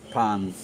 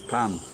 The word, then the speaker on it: pain: and the pronunciation of pan p-a-i-n so the spelling is p-a-i-n but the pronunciation is pan and this charming lady